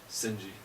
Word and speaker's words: Shinji: You got rid of the H. Shinji. Fuck. That's how you say it, dude.